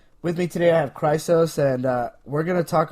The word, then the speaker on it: Chrysos: Correct, yes, it's Chrysos.